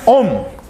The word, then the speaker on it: Ohm: a letra Ômega maiúscula a gente pronuncia om o nome dessa unidade